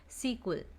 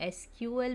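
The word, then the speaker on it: SQL: इसको हम कैसे प्रोनाउंस करते हैं, सीक्वल. तो सीक्वल भी बोलते हैं, एसक्यूएल भी बोलते हैं, और इसका फुल फॉर्म होता है स्ट्रक्चर्ड क्वेरी लैंग्वेज.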